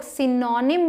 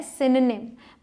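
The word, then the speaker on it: synonyms: लिए थे नेक्स्ट इस जिसे बहुत सारे लोग सिनोनिम बोलते हैं जो बिल्कुल गलत है सही प्रनंसीएशन है सायनोनिम्स मतलब पर्यायवाची किसी शब्द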